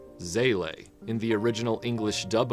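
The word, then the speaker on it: Seele: In the original English dub of the series, it was pronounced Sele. In the latest English dub of the series, the word is pronounced Zila, which is the German pronunciation since it's a German word.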